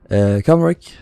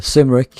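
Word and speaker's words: Cymric: I never remember which is starboard and which is the port side, but this is the Comric, or the Simric as it's spelled, and here is the Afric.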